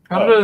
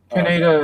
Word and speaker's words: Kaneda: Canada is the proper way of pronouncing it. Canada is more of an American pronunciation, but if you listen to them in the Japanese original, it's Canada.